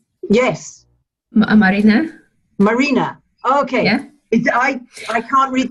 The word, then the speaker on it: Marina: I don't have to say it right yes Marina marina okay I can't read that alphabet very